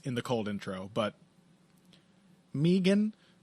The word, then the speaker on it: Megan: the cold intro but Meegan Anderson that's the correct way to pronounce this name that is extremely upsetting